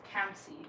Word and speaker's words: Kamsi: And Kamzi's name is Kamsi. And they always say Kamsi because it is S-Y. Why do you literally see it as it's spelled S-Y and you say Z?